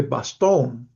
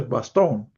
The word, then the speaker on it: Bastogne: en la ciudad de Bastogne, supongo que quiere decir, es francés, se escribe con GN, pero supongo que quiere decir Bastogne.